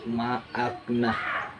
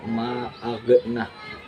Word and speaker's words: ma'akna: Kemudian yang di tengah kalimat tadi ma'akna, bukan ma'agna. Itu salah karena goin merupakan bukan huruf qalqalah, jadi cara membacanya tidak memantul, jadi ma'akna ya.